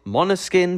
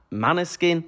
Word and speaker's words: Måneskin: pronunciation of Mana skin I've seen a video of them saying that the correct pronunciation is mono skin but the Italian way is Mana skin but undoubtedly my charming